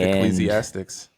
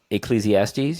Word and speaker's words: Ecclesiastes: It's like Ecclesiastics. Yes. Exactly. Right. Did I say that right? Ecclesiastes.